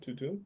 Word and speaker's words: Tutum: Is that how you pronounce it? Tutum? Correct. Tutum is actually a Latin word called safe.